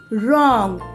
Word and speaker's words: wrong: sound is there water wrong here the w is silent next word is where